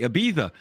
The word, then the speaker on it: Ibiza: Ibiza and I got to say it correctly Ibiza when I saw that volino got listed on